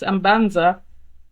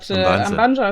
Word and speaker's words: Ambanja: No, Ambanja is not actually completely wrong. It's Ambanja. But Ambanja is also completely okay.